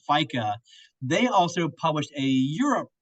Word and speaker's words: FEICA: if your members have locations in Europe or just generally want to know what's going on in Europe, they can visit FICA. That's spelled FEICA.EU.